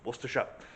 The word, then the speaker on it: Worcester: across well maybe now you know how to pronounce wera this is the beautiful Church of St Mary